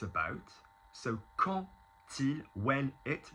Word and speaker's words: quand il: So quand il, when it, notice pronouncing it as a T, quand il, it is not the word quand ta, Q-U-A-N-T, which actually also similarly means as for.